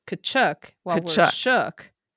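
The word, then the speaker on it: Tkachuk: But they have a silent T which is apparently the Ukrainian pronunciation. Oh, okay. So, it's Kachchuk while we're shook, right?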